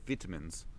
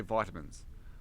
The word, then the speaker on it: vitamins: If you think that Australians say vitamins, you're wrong. We say vitamins.